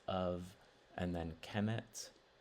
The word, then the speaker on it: Kemet: So it's of, and then Kemet is how Egyptologists pronounce it, at least.